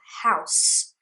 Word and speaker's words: house: what we use all the time as well house is just one syllable house you cannot go how in english